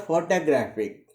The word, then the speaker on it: photographic: The word photographic, the stress is on the syllable graph.